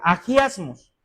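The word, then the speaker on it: ἁγιασμός: La palabra santificación viene de una palabra griega que es agiasmos, así se pronuncia, agiasmos.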